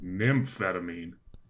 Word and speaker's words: Nymphetamine: the worst part is it's a portmanto with Nymph in it yeah that's the first part it's like saying brunch without breakfast like yeah